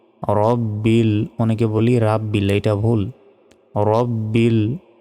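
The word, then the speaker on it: رَبِّ: এ লাতে এক সেকেন্ড টেনে পড়তে হবে আলহামদুলিল্লাহি রব্বিল রব্বিল অনেকে বলি রাব্বিল এটা ভুল রব্বিল কি বলতে হবে রব্বিল আলামিন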